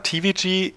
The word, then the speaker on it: Tivigi: bibliotheken entwicklung von web-anwendungen der name tvg ist die ausschreibung der englischen aussprache des acronis tvg also tief und das steht für